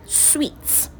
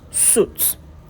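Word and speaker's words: suites: For this word you say sweets, not suits.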